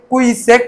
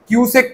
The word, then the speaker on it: কিউসেক: troll করছেন সমালোচনা করছেন আর নিজে কিউসেক কে কুইসেক বলে উচ্চারণ করছেন কিউসেক কে কুইসেক বলে